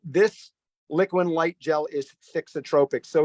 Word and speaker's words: thixotropic: this is a fancy science term it's called fixotropic it's a thixotropic oh should I spell that for you I feel like I'm in